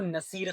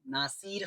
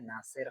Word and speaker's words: Nasir: तो बहुत जने मेरे को नसीर, नासिर ये वो नामों से पुकारते हैं। मेरा सही प्रोनाउंसिएशन है नासिर, NASIR, नासिर।